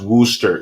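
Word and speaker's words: Worcester: about that too oh Anna says is pronounced Wooster sorry I'm not from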